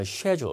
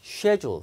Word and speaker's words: schedule: 자, 영국 사람들은 여기 스케줄을 여러분 schedule 이렇게 발음하거든요. 그러니까 지금 주문서에 나와 있는 예정된 요금을 schedule fee라고 한 겁니다.